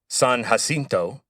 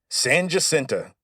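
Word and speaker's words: San Jacinto: might look at the name and think it's San Hasinto, but you'd be wrong. As soon as the Texians won the battle of San Hasinto, Sam Houston declared that it would be pronounced Sanenta from then forward.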